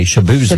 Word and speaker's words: Shaboozey: Now, his name on radio is with Shaboozey, which tells you to say Shabuzi.